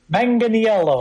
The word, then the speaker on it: Manganiello: Ninth, and I had to get this guy's pronunciation of his last name. Joe Manganiello. Did I get that right? Manganiello.